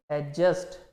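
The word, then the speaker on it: adjacent: जब भी ए और जे के बीच में डी आएगा, आप उसको पढ़ेंगे नहीं कभी, डी को प्रोनाउंस नहीं करेंगे। जैसे इसको क्या पढ़ेंगे हम? एडजस्ट। क्या पढ़ेंगे? एडजस्ट।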